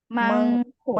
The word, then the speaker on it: 많고: Di sini bacanya harusnya gimana? Mangko. 많고.